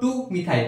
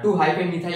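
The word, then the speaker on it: 2-methyl: 2 মিথাইল কি আসলো, এটাকে আমরা মুখে উচ্চারণ করার সময় কি বলবো, 2 মিথাইল। হাইফেনটা কিন্তু উচ্চারণ করবো না, 2 হাইফেন মিথাইল এরকম হয় না, 2 মিথাইল।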